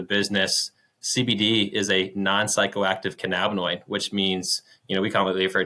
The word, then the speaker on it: cannabinoid: Cannabinoid. Is that a misconception? I feel like most people say cannabinoid. You can say it either way. I like to say cannabinoid.